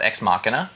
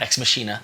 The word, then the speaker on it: Ex Machina: currently doing with tony harris a book called ex machina that is how you pronounce it and um not ex-meschina ex-machina and this takes a different it exists